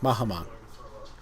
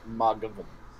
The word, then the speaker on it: Mathghamhain: That's how it's spelled, but that's not how it's pronounced. How it's spelled is Mathghamhain. Or Ghamhain. Mathghamhain. Which, that isn't how you fucking say it. It's Maghgavan.